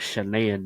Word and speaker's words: Shanann: the murder of Shanann, they they called her Shanann. I thought it was Shanann because of the way it's spelled. It's literally spelled Shanann. There's no O in the name, but it's Shanann from what they said on the documentary.